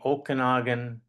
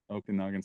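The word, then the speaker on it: Okanagan: Pentictton in the Okonogan Valley. Okanogan.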